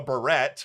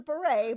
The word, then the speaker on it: beret: the hat, which she called a barrette, which maybe some people, I'm not a French person, but Some people do call it that. okay, all right. It's not. It's a beret, but it's your pronunciation.